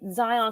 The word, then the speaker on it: Xyon: Zion Quinn. See, you got the Yeah. whole name. Like, and I found out that's not even how you even spelled it. It's spelled, hold on. It is It's XYON.